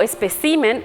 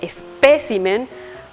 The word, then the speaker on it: espécimen: abuja son incorrecciones fonéticas las incorrecciones fonéticas también pueden darse por desplazamiento de acentos Es decir pronunciamos de forma incorrecta la sílaba que debe ser tónica a veces decimos intervalo en vez de intervalo o especimen en vez de Espécimen o ávaro en vez de avaro acentuamos de forma incorrecta